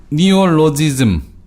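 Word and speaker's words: neologism: 니올로지즘. 이런 말이 있어요. 선생님, 예. 네오 보통, 네오 이렇게. 네오나치 할 때 그 네오예요. 예. 네, 니오 이렇게 발음하거든요.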